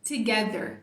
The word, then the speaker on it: Together: né Então beleza hehe aqui com o h a gente tem um Together Together é o jeito correto Together Eu também embolo